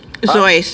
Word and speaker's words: Seuss: Which is pronounced Dr. Seuss, remember? Zeus? Zeus. It's Zeus.